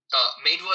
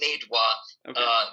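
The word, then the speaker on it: Meidua: Medwa is the town. The town. Oh, I'm sorry. Yeah, it's okay. There's too many names thrown around anyway. The town is Medwa, but the planet is Delos.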